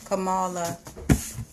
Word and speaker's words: Kamala: I hear a lot of people talk about, they team Biden and Kamala. How do you pronounce her name? Kamala.